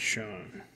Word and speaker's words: Sean: popping for the twins sean poppin yeah it's pronounced shawn nick beanie greg holland mariano rivera omar navares